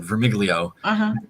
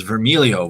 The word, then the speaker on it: Vermiglio: says what you said vermiglio half of my family says vermilio which is the italian pronunciation where the g does not get pronounced um either is accurate